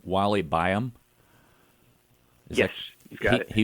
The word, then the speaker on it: Wally Byam: It says, in 1929, Airstream founder, and correct me if I mispronounce his name, Wally Byam.